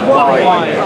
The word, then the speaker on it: Waen: Because I've heard so many pronounce it. Waen. Waen. Yeah. Welsh word. It's the hill that I live on is called the Waen.